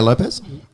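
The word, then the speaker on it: Lopes: Diego Lopez? Is it Lopez? Or how do you say... Because there's no Z in there, it's just S. I think it's just Lopez.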